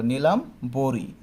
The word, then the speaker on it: নীলাম্বরী: কিন্তু এটা লেখার পেছনে একটা কারণ আছে, আমি খেয়াল করি, আমার এখানে নীলাম্বরী, এই নীলা, নি, এখানে বানানের মধ্যে দীর্ঘিকার বলা আছে, কিন্তু উচ্চারণের মধ্যে আমরা কি দিব, ঋষিকার দিব।